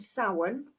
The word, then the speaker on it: Samhain: It's a Wiccan pagan Sabbath or holy day for us that is called Samhain, which is spelt Samhain for some bizarre reason.